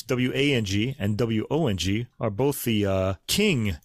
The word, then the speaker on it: Wang: in the Cantonese but it's all pronounced the same way it's Wong and I should have